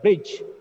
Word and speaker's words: bridge: The root word bridge is not bridge. Sometimes we produce the sound bridge, large, knowledge. No, it's not right. D is silent. D is silent here.